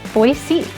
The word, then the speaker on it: Boise: the city of Boise says it should be pronounced. And it's Boise.